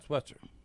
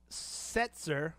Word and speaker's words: Setzer: the guys name it the league guitar brian switzer i'm probably pronouncing that wrong yeah it may not be